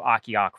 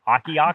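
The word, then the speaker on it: Ocqueoc: about 14 miles to o'ciock Falls which I was at earlier this year and did a video on and mispronounced I know no that it's aa kkeok Falls but that's a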